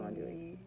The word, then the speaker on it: andouille: I do andouille.